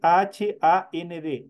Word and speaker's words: hand: esta H Qué es esta H es aspirada y y aquí es como que estuviera puesta una J en el momento de pronunciar pero en el momento de escribir se escribe h a n d and pero el momento de pronunciar es hand es como que estuviera aquí una J hand en este caso hand